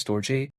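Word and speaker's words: Storj: Some people say it's storage, some people say it's store J.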